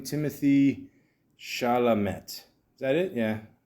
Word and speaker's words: Chalamet: How do you pronounce this guy's name? Timothy Chalamet.